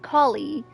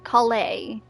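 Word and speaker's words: Collei: also I just realized I was saying her name wrong it's not colie it's Kay Kay Kay thank you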